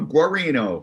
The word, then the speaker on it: Guarino: Guarino? Yeah, that's close enough. Guarino. You got to use your hands to really get it out, but Guarino. I have to say it like that.